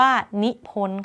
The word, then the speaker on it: นิพนธ์: ได้ อีก ถัด มา คำ ว่า นิพนธ์ ค่ะ นิพล ค่า เสียง ไป ค่ะ ก็ เลย เรียก ว่า ธ ธง การันต์ นะ คะ ประพันธ์ ก็ เหมือน กัน